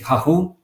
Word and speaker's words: Rahul: So today I'm conducting a new user interview with Rahul. Am I pronouncing it correctly?